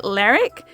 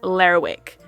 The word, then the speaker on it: Lerwick: There's also a bit of a friendly debate about how to pronounce the town's name. Some say Lerwick, others Lerwick. After asking quite a few locals before filming this video, the vote seemed pretty evenly split, so I've gone with Lerwick.